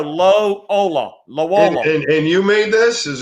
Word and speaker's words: Loyola: was following them around lo ola of illinois it's not loyola it's lola i call it lo ola almost like the uh y is silent so you go low hola and you made this